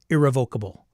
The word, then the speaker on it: irrevocable: But is it listed in the license that it is irrevocable? Irrevocable. Sorry. It's on the syllable.